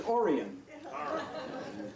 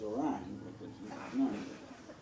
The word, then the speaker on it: Orion: i know that because his name is orion some people mispronounce it as a rhyme no he was my